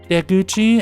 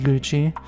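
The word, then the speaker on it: 出口: Deuchi as we've I mistakenly called it Guuchi um is exit right so now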